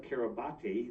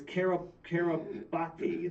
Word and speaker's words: Kiribati: that it was registered in the nation of Kiribati, or Kiribati, but spelled Kiribati, right?